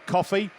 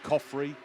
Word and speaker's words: Coffey: And that's because I've just announced that Ben Coffey, and that's how it's pronounced, not whatever I was calling him, Coffrey, Coffer. But well done.